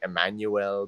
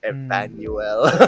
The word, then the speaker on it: Evanuell: e l l uh whenever people ask me how to pronounce it just pronounce it like Emmanuel but it's Emmanuel or something and I'm